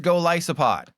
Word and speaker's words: Golisopod: I'll put the exact canon pronunciation in the chat. It is Golisopod.